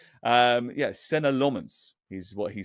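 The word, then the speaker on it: Senne Lammens: Well, I think I've pronounced it about 16 different ways over the course of the summer, but we're told it's Senna Lomons.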